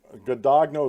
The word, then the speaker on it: Guadagno: Guadagno is how you pronounce her last name according to the websites.